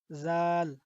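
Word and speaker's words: ذال: তো এটার উচ্চারণ আমরা জিহ্বার আগে থেকে একটু নরমভাবে করব। জাল, ঠিক আছে, জাল।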